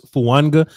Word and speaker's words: Fuaga: Alex, the Eagles fan in the chat box, just said that Talis Fuaga's name is pronounced as if there was a silent N in it. So there's so it's Fuanga.